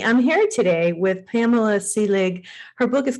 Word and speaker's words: Seelig: Her last name is Seelig, Seelig, correct? Am I Yes, that's pronouncing right.